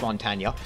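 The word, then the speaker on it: Montagne: him Mountain as well and yes it is pronounced Montana you can go to Google uh Google says uh in which they get people from the native language to can for you and they pronounce it Mont Y is meant to be quite emphasized but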